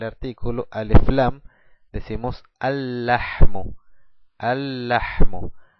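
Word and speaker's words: اللحم: al lam decimos alm alm no pronunciamos el primer lam pero si el segundo con la shadda entonces decimos al la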